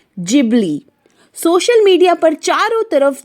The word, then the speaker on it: Ghibli: कोई इसे जिबली कह रहा है तो कोई गिबली। इसका सही प्रोनाउंसिएशन है जिबली।